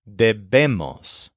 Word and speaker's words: debemos: Notice that for all these words, the stress is on the first syllable, deb, except for the we must conjugation, where the stress is on the second syllable, debemos.